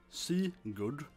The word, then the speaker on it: Sigurd: It's pronounced Leif, and for that matter, it's pronounced Sigurd. Like you pronounce the I for a time, not Sigurd. You pronounce Sigurd and Leif.